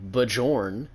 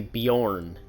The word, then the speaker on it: Bjorn: Cuz in Skyrim, you don't see people saying Bajjorn. They say Bjorn because that's how it's pronounced.